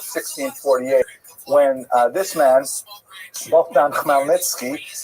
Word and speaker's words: Khmelnytsky: when this man, Bogdan Khmelnytsky, sometimes horribly mispronounced Chmielnicki, because that's the Polish spelling with an American pronunciation, but the pronunciation is Khmelnytsky, led an uprising of Ukrainian peasants against their Polish overlords.